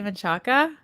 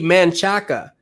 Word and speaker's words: Menchaca: say that word again did i say menchaca yeah all right yeah i don't know i pronounced a lot of stuff wrong it's important this is a good conversation because it's been polluted earlier and crystal's like like paloma read it you you see manchaka and and people that are